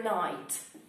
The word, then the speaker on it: knight: Good night, dear knight. Dobranoc, drogi rycerzu. Oba wymawiane tak samo.